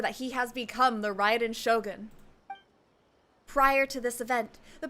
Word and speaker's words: Raiden Shogun: up to discover that he has become the riot in shogun prior to this event the protagonist is a nobody who gets bullied by everyone but after becoming the riot in shogun he acquires unlimited power the appeal of this